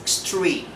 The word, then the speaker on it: extreme: Again, X is following by T. So the pronunciation for that is extreme.